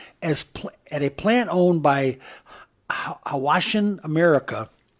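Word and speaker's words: Hwashin: At a plant owned by Hawashin America. It's H-W-A-S-H-I-N, Hawashin. Okay. Maybe the H is silent.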